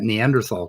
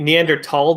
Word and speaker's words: Neanderthal: it fall yeah so if you're doing a german it would be neanderthal but spelled with a th um but it doesn't